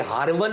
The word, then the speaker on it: हारवन: आमतौर पे लोग इसको मिस प्रोनाउंस करते हैं, ये हारवन है जगह।